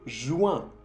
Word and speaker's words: joins: Je joins. Con un S que no se pronuncia tampoco.